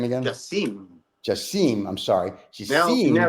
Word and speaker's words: Jasim: Jasmine, how do I pronounce his name again? Jasim.